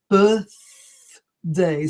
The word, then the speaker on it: birthday: where it comes in we say bath room we throw out the air bath room and birthday so the air comes out instead the position of the tang of the teeth is the same when we say mother but we don't throw out the air we bring it in mother so many of